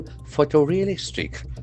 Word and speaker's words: photorealistic: You label all photorealistic. Photorealistic. So this is very important adjective. Photorealistic. Photorealistic. We can feel that ever sound for the letter O two times. Photorealistic. The accent falls on the fourth syllable.